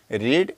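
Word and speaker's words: read: verb हमारा क्या है रीड और इसका थर्ड फॉर्म हो जाएगा रेड यहां पे हमने नोट कर लिया रेड हालांकि स्पेलिंग वही रहेगा आर ई ए डी रेड इसके बाद हम लिखेंगे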